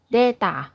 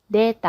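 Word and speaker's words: データ: ข้อ มูล นะ คะ จะ ออก เสียง เป็น deta deta อ่ะแล้ว กลับ มา พบ กัน ใหม่ กับ ข่าว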